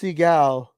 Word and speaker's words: Seagal: Siegel is an Akito master Siegel yes it's pronounced Seagal so if I was gonna pick here's a